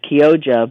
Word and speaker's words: Chioggia: So it's pronounced Kyoja, but it's spelled Chioggia, beets.